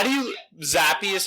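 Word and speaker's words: Zappe: just me oh God Z how do you zappy is how you pronounce it he played well though I know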